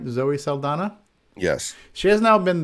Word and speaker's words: Zoe Saldana: Zoe Saldana?